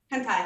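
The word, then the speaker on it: Hantai: Kind of, it's H, kind of a mix between an A and an E, N-T-A-I. Hentai.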